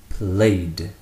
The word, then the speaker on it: played: Play is not pronounced played. It continues to have just the 1 syllable like I explained earlier. So played remains played, played, a single D sound.